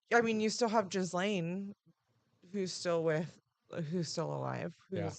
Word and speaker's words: Ghislaine: I mean, you still have Ghislaine, who's still alive, who's Yeah.